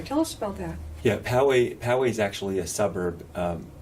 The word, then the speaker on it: Poway: newspaper about the shootings in, how do you pronounce that? Poway. Poway. And you, Michoel, you didn't live far from there. Tell us about that. Yeah, Poway is actually a suburb.